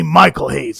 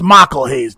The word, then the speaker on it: Michael Hayes: that us title and stop calling me Michael Hayes it's Michael Hayes don't you hear how I pronounce my name well you're all gonna